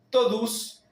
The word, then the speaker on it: todos: Eles estão estudando a Bíblia todos os dias. Acá tenemos estão, tenemos la tilde como en baum, estão estudando a Bíblia todos, la OS final cerrada, casi produciendo el sonido de la U, todos, os dias,